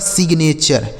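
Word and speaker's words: signature: आगे देखिएगा एस आई जी एन ए टी यू आर ई। तो एस आई से हो गया दोस्तों सी। ठीक है? जी से ग हो गया। एन एन एस ने टी यू आर ई से चर यह लिखा गया दोस्तों आपका सिग्नेचर क्या लिखा मेरे भाई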